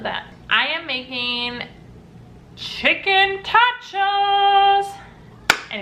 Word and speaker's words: Totchos: I am making Chicken Totchos. And if you think I mispronounced nachos, you're wrong, because we're making tachos.